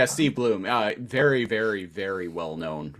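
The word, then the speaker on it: Steve Blum: Steve Bloom or Blum? Yeah, Steve Bloom.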